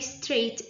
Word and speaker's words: straight: 3, the audience sat up very straight in the scary parts. Straight, G in straight.